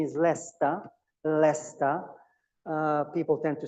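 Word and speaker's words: Leicester: Uh pronunciation is Leester, Leester. Uh people tend to say Leester but it's not Leester, it's Leester.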